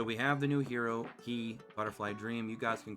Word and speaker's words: Qi: I know a lot of people like to call her Q because we're not really even technically sure if it is pronounced Key.